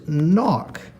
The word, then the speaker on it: knock: And that one actually has a silent K in the front. We don't hear that K. We just hear the N that comes after it. So K N gives us the sound knock.